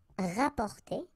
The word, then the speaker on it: rapporter: You can also use this RAP, rap, rapporter, rapporter. So same thing here, you don't pronounce the double P, rapporter.